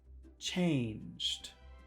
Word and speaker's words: change: If you can you say chain? Chain. But then we have to put this awkward sound at the end. Change.